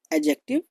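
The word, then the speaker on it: adjective: तो अब हम चलते हैं अपने दूसरे स्ट्रक्चर जो कि है no matter how plus एडजेक्टिव। एडजेक्टिव पढ़ते हैं इसको। ठीक है? एडजेक्टिव नहीं पढ़ते। यहां पे डी साइलेंट है।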